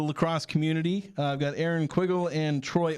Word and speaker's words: Quiggle: I've got Aaron Quiggle and Troy Oldham. Did I say those right? Absolutely. I've only ever written them down, so I know I've met you guys before.